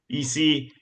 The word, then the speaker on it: Isse: Um so with that being said, we're here with Eie, director of premium sales for the Portland Timbers.